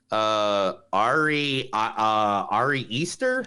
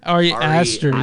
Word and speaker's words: Ari Aster: Man, I'm gonna say this dude's name wrong. Ari Easter. Ari Aster.